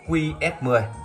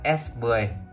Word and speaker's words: S10: S10 ha5 mã nhà anh em đọc chữ này là qs10 nhưng chúng ta đọc đúng là S10 ha5 mã đây là chữ S viết hoa viết kiểu Đây là